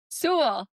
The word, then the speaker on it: Sewell: Sewell Sewell, rhymes with Sewell, like cool. cool. Yeah, don't look at the way that it's spelled at all.